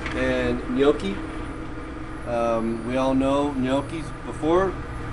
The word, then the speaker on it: gnocchi: We all know gnocchis before. The G is silent.